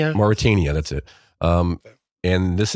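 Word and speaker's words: Mauritania: Pronounce it better. Some place in Africa, I believe. Moritania. Moritania.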